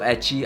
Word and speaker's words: ecchi: Also, etchy, I'm pretty sure, is the way they pronounce the letter H, like H in hentai.